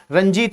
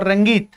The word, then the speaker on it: Rangit: River Ranjit or the river Rangit, you can pronunciate both Ranjit or Rangit.